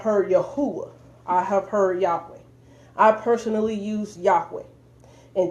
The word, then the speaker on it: Yahweh: those grammatically are incorrect i'm going to show consistently why you know hey why he pronounced as yahweh is consistently correct as we can see